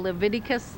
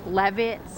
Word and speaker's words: Leviticus: the Bible like uh he used to call Leviticus Levits and uh Exodus he used